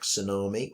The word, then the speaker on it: tsunami: which defines the field borrowings like tsunami which contains a silent t not seen in english on whole and the